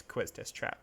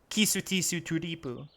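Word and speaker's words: Quistis Trepe: You might think it's Quistis Trap because that's how we would probably pronounce it in English. But her name is actually Kisutisu Turipu.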